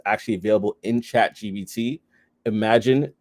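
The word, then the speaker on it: Imagen: Imagine 2, which is spelled Imagine, Gen 2.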